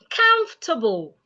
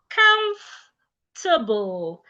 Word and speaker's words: comfortable: Comfortable. You should not say comfortable. It's comfortable. comable. The O and R are silent. Comable. It is not comfortable.